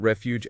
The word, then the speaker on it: refuge: And we can't forget refuge and overlook. Two words that could be challenging because of the stress patterns. Refuge has the emphasis on the first syllable reh fight while overlook has